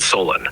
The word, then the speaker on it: Solon: Did you say Solon? No, I said Solon. It's the name I chose. Can you spell it for me? Sure, it's spelled S-O-L-O-N.